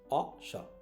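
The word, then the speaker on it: wash: তারপর হচ্ছে ওয়াশ, হাত ধোয়া, হ্যাঁ, বা যে কোনো কিছু ধোয়া, কি হচ্ছে ওয়াশ, ওয়াশ ইউর হ্যান্ড, ওয়া অ শ, অশ, এটা উচ্চারণটা হচ্ছে কি ওয়াশও না, উচ্চারণটা হচ্ছে অশ, অশ, অশ।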